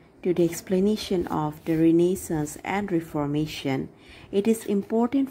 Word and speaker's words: renaissance: revert or revival and it is a french word and it is pronounced as renaissance and so before learning